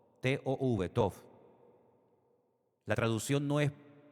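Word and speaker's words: טוב: T o V.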